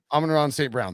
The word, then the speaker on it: Amon-Ra St. Brown: Amon-Ra St. Brown. Amon-Ra St. Brown, thank you.